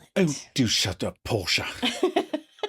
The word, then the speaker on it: Porsche: The pronunciation is Porsche and many people think the E is silent. Oh, do shut up. Porsche.